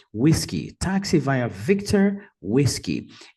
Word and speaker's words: whisky: pela palavra código whisky whisky e também a primeira sílaba é a mais forte a pronúncia deve ser whisky taxi vai a Victor